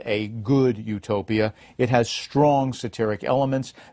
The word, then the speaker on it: utopia: Eutopos and utopos, good place and no place. To an English reader, they both become utopos.